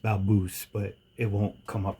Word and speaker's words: Balbus: To really blow everybody's mind, explain to them what B A L B U S is. It's pronounced Baboose, but it won't come up right.